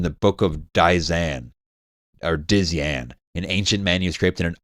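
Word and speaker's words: Dzyan: It's spelled DZ Yan. Dian.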